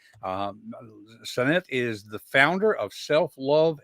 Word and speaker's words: Sanet: Sanet. I always say a sun and it, Sanet. And fun, it's like having fun in the sun.